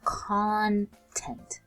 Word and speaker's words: content: Instead of emphasizing the tent, we emphasize the con. So this part of the word, we say it a little bit stronger. It's now pronounced as content.